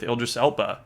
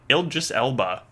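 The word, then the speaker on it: Idris Elba: a giant expansion with ildis Ela ildis Elba that's how you say it um called Phantom Liberty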